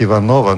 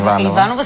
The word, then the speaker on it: Иванова: благодаря мго болье спасибо много често са ме питали къде е ударението на името ми на и всички ме наричаха иванова като са мислили че иванова звучи на български по български така ли а да а всъщност на руски е иванова а на всички ме